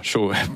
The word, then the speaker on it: Cho: le coréen David yongich Cho on prononce ch voilà chaud qui est pasteur de